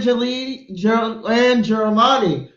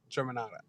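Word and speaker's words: Germanotta: Damn, Stephanie and Germani. Okay, you get an extra point for that, Let me pronounce motherfucker. it for you correctly. It's Stephanie, Angelina, Joanne, Germanata.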